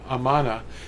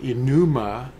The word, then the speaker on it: Amanah: Yeah, Amanah. They call it Enuma a lot of times. It's not. It's spelled with an A, Aleph.